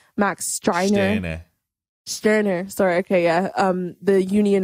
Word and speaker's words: Stirner: How do you pronounce his name? Max Stirner. Stirner.